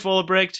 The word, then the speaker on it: Vollebregt: this episode, I'm very excited to have Vollebregt. Did I pronounce that right? That's close enough. How do you pronounce it? Vollebregt. Yeah, Vollebregt. I actually pronounced it G. Oh, okay. Yeah. So Vollebregt, who is the founder of the Global Shuffle podcast.